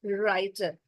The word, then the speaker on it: writer: we say it as writer where W is silent why W is silent